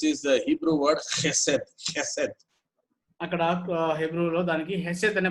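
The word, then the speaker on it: חסד: Chesed, those people they pronounce it chesed because there is no K in Hebrew, there is only Che.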